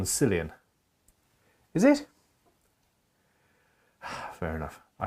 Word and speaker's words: Cillian: Ah, that's a hard C on Cillian.